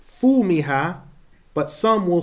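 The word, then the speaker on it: فومها: So in some recitations, some will say fumiha, but some will say thumiha.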